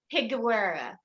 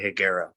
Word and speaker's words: Higuera: my whole the E is silent, but you're supposed to say it with an E, but I sound stupid when I say it. So I just say Higuera. It's Higuera.